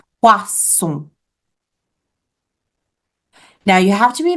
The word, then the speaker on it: poisson: If we get a little lazy and we pronounce it with a Z sound, le poison, then we are ordering poison. So le poison with a Z sound is poison, but le poisson is fish with an S sound.